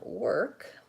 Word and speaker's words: work: to make sure that the difference is that the end of your word is clear you have a voiced D sound on world and work you have a voiceless K sound then lastly the word